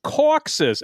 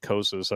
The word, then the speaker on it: Kosis: The name Kosis is pronounced Coxus. Actually, it's not. It is pronounced Kosis.